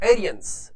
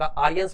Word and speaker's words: Aryans: जैसे द एरियंस, ये थोड़ा उच्चारण थोड़ा अलग तरह से है, द आर्यंस भी बोल सकते हैं, द एरियंस भी बोल